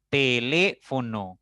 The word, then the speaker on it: teléfono: Teléfono, palabra de 4 sílabas. Nuestra mayor intensidad al pronunciar está en le, en esa sílaba. Por lo tanto, suena más fuerte, ¿ya?